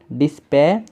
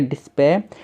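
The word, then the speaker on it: dispatch: और यहाँ पे जो टी है ये आपका साइलेंट है। क्यों है साइलेंट, तो देखिए जब भी टी के बाद CH हो, टी है उसके बाद CH हो, तो क्या होता है कि जब भी टी के बाद CH होता है तो वहाँ पे आपका टी साइलेंट होता है। जहाँ पर भी आपको टी के बाद CH दिख जाए, आप टी को वहाँ पे आप साइलेंट मान लेना।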